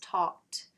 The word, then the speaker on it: talked: can see, for instance, talked, the ed is just pronounced the t, the flap, essentially, because the k at the end is voiceless, versus instituted, well, that's